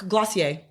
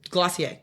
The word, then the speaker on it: Glossier: your perfume I do um oh what's it glossier I love it who's that by it's glossier it's glossier that's they have one perfume that they do